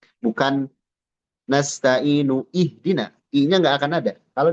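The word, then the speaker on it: اهدنا: Kenapa dibaca i? Padahal tidak ada harakatnya. Ya. Ihdina. Ihdina.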